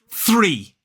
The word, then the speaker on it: three: It's not like that. It's a much quicker, sort of lighter sound. We don't need to get aggressive with our TH. It is 3. So basically place the tip of the tongue on here and blow air lightly through the teeth without using the vocal cord.